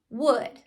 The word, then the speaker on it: would: Wood three lines uh first one totally normal second one uh I would say it sounds like uh it's spelled o u l that's the part they need to Remember by heart the last sound totally